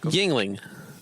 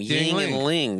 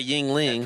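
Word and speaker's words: Yuengling: Yingling. Yingling. He's saying it like it's a first and last name. Ying and Ling. Yingling. So I talked to my guy Yingling.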